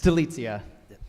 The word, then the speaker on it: Delia: next up is Deliza if I pronounce your name incorrectly Delia it's okay no one pronounces my last name correctly it's Delia okay listen you were